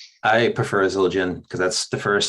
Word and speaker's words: Zildjian: Sabian or I don't even know how you pronounce that. Zildjian.